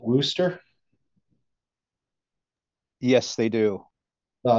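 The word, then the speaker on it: Worcester: paper on that um they pronounce it Wooster yes they do well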